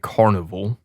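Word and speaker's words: Karnivool: pick this week is Goliath by the band Carnival okay so it's spelled k a r n i v o o l Carnival Carnival yeah yeah Carnival and the song is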